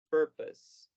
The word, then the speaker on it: purpose: en esta clase, pero la letra U en esta palabra en específico suena como no como U. Entonces, básicamente pasamos del sonido P al sonido per, purpose, purpose.